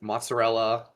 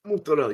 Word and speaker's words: mozzarella: I got my classic, the Uncle Babe, which is a um Italian sub with mozzarella. Uh mozzarell. Yeah. Mozarell. It's It's pronounced mozzarella.